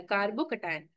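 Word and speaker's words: carbocation: अब क्लियर हो गया, प्रोनाउंसिएशन आ जाएगा कार्बोकटायन।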